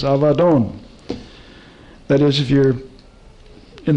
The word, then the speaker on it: Abaddon: just in the new is what is commonly pronounced abaddon but it's avadon a b a d d double d o n usually mispronounced abaddon but it's avadon that is if you're in the old testament